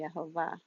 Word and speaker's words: Yehovah: I am pretty convinced by the evidence that his name would be Yehovah.